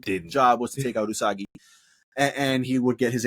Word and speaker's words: Usagi: Well, let me say her name right because fuck man, it was Usagi and Arisu.